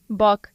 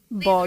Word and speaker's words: Bok: Note, remember it's Bok, not Bog.